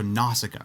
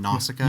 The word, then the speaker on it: Nausicaä: So Nausicaä, right? Did I say it right, Sean? Nausicaä?